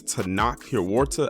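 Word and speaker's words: Tenoch Huerta: from the picture but this actor his name is tanak here War to I believe that's how you pronounce his name and he played Neymar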